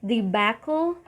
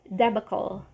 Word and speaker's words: debacle: Next word, you can either say debacle, or debacle.